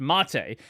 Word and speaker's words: MATE: I know it doesn't have a little accent, but yes, technically it's pronounced Mate.